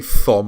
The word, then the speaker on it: Thom: It's pronounced Tom, but I say Thom because then you remember how to spell it, all right?